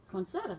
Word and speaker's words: Conceita: She said Conceita is like poinsettia. Conceita. Conceita.